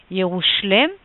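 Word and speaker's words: ירושלם: i'm showing you here a different pronunciation following the aramaic pronunciation which is yerushlem not coincidentally we're going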